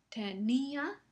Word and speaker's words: tenía: Escuchen bien la diferencia en la pronunciación. Tenía. Ese es el tenía. Tenía tenía, tenía, tenía. No, en el caso de tenia, la i no lleva tilde y entonces sabemos que forma un diptongo con la siguiente A, lo cual significa que está en la misma sílaba que la A y por lo tanto es un diptongo.